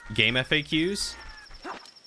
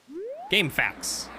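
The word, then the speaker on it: GameFAQs: appear there we go never called it facts you always pronounce it as the letters game faqs it's a fact game facts nothing happened to them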